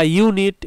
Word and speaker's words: unit: আ uniform, তারপরে আ ইউনিট, এই যে আমাদের বইয়ের ইউনিট 1, 2, 3, তাহলে এখানে ইউনিটের আগেও এ হচ্ছে, কি কারণে, ইউনিটের উচ্চারণ দেখো ইউ এর মতো, ইউ, এই যে ইউ এর মতো উচ্চারণ, এটসেট্রা, এ মানে ইত্যাদি।